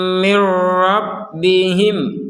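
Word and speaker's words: من ربهم: Kalau ini enggak ada dengungannya, walaupun dimasukkan enggak ada dengungan. Mir rabbihim. Jadi jangan sampai dengung.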